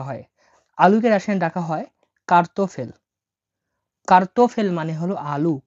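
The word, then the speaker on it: картофель: এটা উচ্চারণ হবে না। তাহলে কি হলো? কার্তোফেল।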